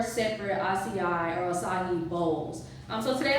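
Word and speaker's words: açaí: Okay, so today I'm going to make an acai bowl or acai. It just depends on, so many different ways you can pronounce it, but I do pronounce it acai, but some people pronounce it acai.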